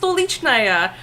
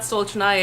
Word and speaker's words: Stolichnaya: But no, it's pronounced Stolichnaya. My Russian friends, adopted family, we're like, no, it's not Stolchnaya, it's Stolichnaya.